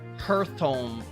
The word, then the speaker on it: Hearthome: It's pronounced like Hearthome. Okay, Hearth. I'm saying Hearth, but like Hearthome. Like start, but not Earth. So start, so Heart. It rhymes with start, so it's Hearthome.